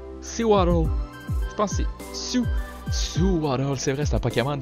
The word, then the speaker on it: Sewaddle: J'ai jamais su comment prononcer son nom. Sewaddle. Je pense que c'est Sewaddle.